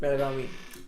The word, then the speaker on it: Belagavi: 1900 or Belagavi, that's how they say it. Belagavi.